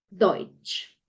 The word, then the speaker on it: Deutsch: Entonces nos damos cuenta que la E con la U la vamos a leer, o sea, aquí vamos a leer literal esto. Deutsch.